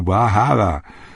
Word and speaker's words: Bar Harbor: Camden, Rockland, Bar Harbor, pronunciado Bar Harbor, Wiscasset, Bath, Portland, Algonquin, The Berwick's.